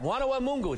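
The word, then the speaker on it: Mwana Mungu: they went yeah yeah i said did i say it right wana mungu they said yeah they don't like my accent but they said yeah you said it right i said what does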